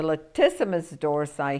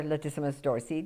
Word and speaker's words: latissimus dorsi: techniques we've got the latissimus dorsi here or latissimus dorsy depending who's pronouncing it now remember that these